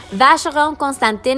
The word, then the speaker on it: Vacheron Constantin: a vast Rome Constantine Vacheron Constantin is one of the best-known Swiss luxury watchmakers in the world again forgive that a pronounce it in French I pronounce everything in French or Spanish and that's I I